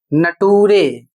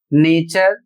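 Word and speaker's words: nature: अभी एक वीडियो में मैंने देखा है उसमें इसका उच्चारण करते हैं नटूरे। और इसका उच्चारण करते हैं फटूरे। जबकि इसका सही उच्चारण होगा नेचर और इस शब्द का उच्चारण होगा फ्यूचर।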